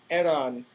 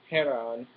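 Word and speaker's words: Hernán: You don't pronounce the H in Spanish name, so it's Aaron, not Heron.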